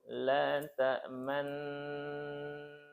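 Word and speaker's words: لا تأمنا: Jadi bacanya itu la ta'manna. Nggak merubah dengung, dengungnya tetap dengung.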